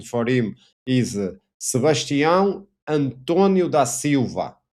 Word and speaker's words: Sebastião Antônio da Silva: His name is Sebastião Antônio da Silva. This is the Portuguese pronunciation.